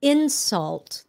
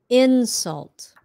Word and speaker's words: insult: So insult. The first one is a noun. Insult. And then the verb is insult.